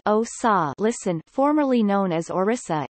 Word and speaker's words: Odisha: odessa Odia Orissa pronounced OSA listen formerly known as Orissa is one of